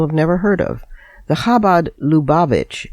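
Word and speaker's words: Chabad: Shrekinger's article is about Kabad, that's spelled C H A B A D, but pronounced Khabad. It's a global hidic movement most people have never heard of. The Khabad Lubavich, L U B-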